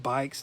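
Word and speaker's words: Beich's: It's pronounced bikes, not Um and these are from the 70s.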